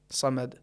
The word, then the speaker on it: صمد: کی آواز نہیں آئی۔ لہٰذا بہترین طریقہ یہ کہ جب ہم حرف دال کا تلفظ کریں اور اس پر رکیں، زبان کو دال کے مخرج سے متصل کریں، پھر زبان کو مخرج سے الگ کریں تاکہ آواز آئے، احد، صمد۔ البتہ یہاں پر ایک